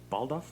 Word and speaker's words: Baldauf: Baldauf. I don't want to say your last name wrong.